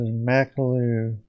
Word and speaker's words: Makulu: Yeah, that's how you pronounce it. Makulu.